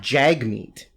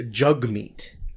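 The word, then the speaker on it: Jagmeet: time oh really well it's not Jag meat it's jug meat oh that sounds dirty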